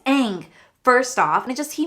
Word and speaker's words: Aang: butchered the goddamn movie he kept calling him ong his name was aang first off and just